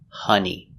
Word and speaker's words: honey: Another example is honey. That's right, with an O pronounced hun. Honey.